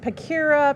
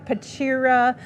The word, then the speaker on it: Pachira: I've heard it pronounced Pakira, Pachira, really money tree.